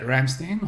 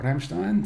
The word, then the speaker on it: Ramstein: just doing its thing at Ramstein or Ramstein depending how you pronounce it there is for kc-10